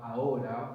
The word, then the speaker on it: ahora: H's are silent in Spanish, like I mentioned, like ahora, which is to the hour, the H is silent there.